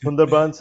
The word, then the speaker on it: Sundarbans: I'm sorry, maybe you can help me with the pronunciation of rajashlan. So that's uh Sundarbans and Rajasthan which is the deserts of the west or the western part of India.